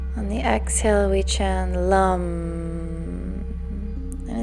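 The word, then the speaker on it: lam: its seed sound is lump it's written l-a-m but pronounced Lum l-u-m this sound will contract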